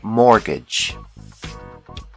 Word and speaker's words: mortgage: The T is silent. Mortgage.